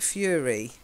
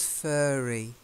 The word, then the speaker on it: furry: got this sort of it's furry now the way you say it it sounds too much like fury fury is not furious intense anger yeah she was furious okay fast and furious yeah fury yeah but it's fur so it's furry what's that sound furry